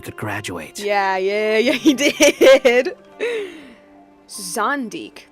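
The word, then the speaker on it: Zandik: Zondik, that's how you say it.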